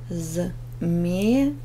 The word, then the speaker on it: змея: Змеи, змея. Ударение ставим змеи на первый слог. Змея на второй слог.